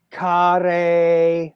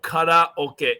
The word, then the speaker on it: karaoke: It's something like kare. No, karaoke. Exactly, like the Spanish pronounce consonant vowel, consonant vowel, consonant vowel. Karaoke.